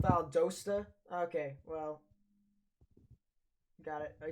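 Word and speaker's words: Valdosta: Um, so yeah, uh, pronounced Vald Dosta.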